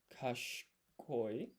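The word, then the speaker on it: 賢い: And then clever is kash koi. Now there is an i here in the middle but you don't pronounce it.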